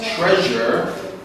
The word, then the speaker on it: treasure: the sh stylish but when we pronounce treasure we can hear the ch okay treasure you use